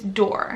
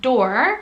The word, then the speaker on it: Dor: thing we have is dor so do is really how you pronounce it but dor is how it would be pronounced in the states like a door like the door behind me so it probably won't